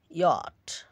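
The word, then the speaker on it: yacht: ব্যতিক্রম হচ্ছে ইয়াট ইয়াট ইয়াট নকরা।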